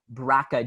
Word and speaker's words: BRCA: life but she has something called the brca braca gene um it's pronounced draca but it's brca so this gene